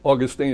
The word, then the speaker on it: Augustine: Well, I would say the thing that comes immediately to mind is that Augustine was, Augustine is fine, by the way, it's yeah. Both pronunciations are acceptable.